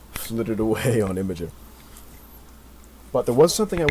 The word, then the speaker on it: Imgur: I have a problem like that with Imager, or Imgur for people who like to mispronounce things, and Imgur, that's me.